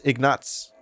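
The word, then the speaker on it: Ignaz: produce power Killeen welcome the name ignas pronounce ignats and somehow become a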